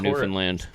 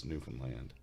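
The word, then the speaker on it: Newfoundland: would have been like no it's Newan land new land he's rolling your eyes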